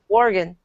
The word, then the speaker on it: Oregon: See, I said it right, Oregon.